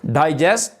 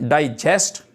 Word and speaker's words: digest: तो जब इसको कहते हैं प्रोनाउंस करते हैं डाइजेस्ट तो तब इसका मीनिंग होता है टू एब्जॉर्ब, यानी जब इसका जो स्ट्रेस है डाई पे होती है तब ये कलेक्शन